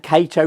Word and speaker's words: Cato: And Cato rhymes with potato.